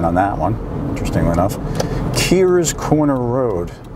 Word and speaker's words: Kerrs: Kears Corner Road. It looks like Kerrs, K-E-R-R''S, Corner Road, but it's pronounced Kears.